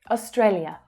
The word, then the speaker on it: Australia: Australia. So the main stress is on the second syllable, A. That's the A as in day vowel sound.